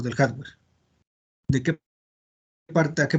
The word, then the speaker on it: hardware: La palabra se escribe así, hard, como duro en inglés, y ware. Entonces, así es como se escribe, hardware. ¿Sí? Nada más que se pronuncia hardware.